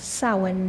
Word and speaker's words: Samhain: the Pagan paths that's spelled s-a-m-h-a-i-n pronounced Sawan not Samhain um it is the